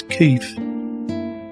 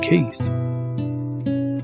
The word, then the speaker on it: Keith: a working class oik, running around pronouncing his bandmate's name as Keith, as though it was spelt with an F, in a fake working class Cockney accent, instead of pronouncing his name Keith.